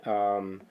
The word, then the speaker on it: Symat: So this was brought to us by Symat.